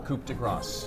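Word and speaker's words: coup de grâce: It's a beautiful Coupe de Grace. It's the correct pronunciation.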